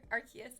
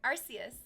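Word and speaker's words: Arceus: Pokemon Archus. Sorry, Arus. I have to learn how to pronounce it properly.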